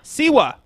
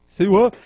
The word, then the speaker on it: Siwa: Siwa. Siwa.